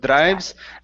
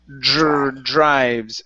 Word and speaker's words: drives: Give me a JR sound right here instead of drives. Drives.